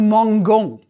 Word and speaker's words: mangeons: you've never said nous mangeons. You add the E in the new form to preserve the pronunciation where there's an A, O, or U coming after the G.